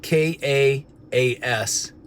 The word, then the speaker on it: ka'as: Now, the word provoke in Hebrew would be the word ka'as. It's spelled K-A-A-S, pronounced ka'as.